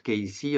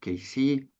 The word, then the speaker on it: Cayce: bienvenue bien sûr c'est Edgar Ky donc on prononce Ky enfin la plupart d'entre vous le savent puisque je vois qu'il y a beaucoup de membres de les Haris ou de groupe de Ky et ceux qui le savent pas donc ça